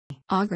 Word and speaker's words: Auger: Auger electron spectroscopy, ICE, pronounced in French, is a common analytical technique